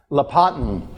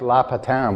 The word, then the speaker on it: Lapatin: for their seal stones lapatin is how you pronounce my last name but people call me lots of things I like laughs a town which is aristocratic French but yeah it's not